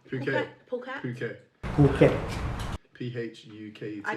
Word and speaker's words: Phuket: Is that No, Phuket? Phuket. Phuket. Phuket. Phuket. P-H-U-K-E-T. I didn't know how to spell it, so I just put So you put pocket because pocket.